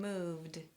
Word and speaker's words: moved: here's mine: movD, movD.